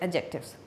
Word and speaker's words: adjective: D is always silent over here. We pronounce it adjectives.